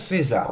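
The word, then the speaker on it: Caesar: Ça s'écrit C-A-E-S-A-R, mais il paraît que ça se prononce César, donc je prononce César.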